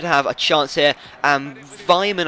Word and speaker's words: Weimann: Aston Villa, they did have a chance here, and Weimann, I think that's how you pronounce it with a slight German accent. Weimann came close there with the header, but really just couldn't get it on target.